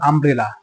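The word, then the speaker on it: umbrella: ইউ দিয়ে শুরু হয়েছে বাট ইউ উচ্চারণ না হয়ে উচ্চারণ হচ্ছে হল আ যে কারণে কিন্তু এখানে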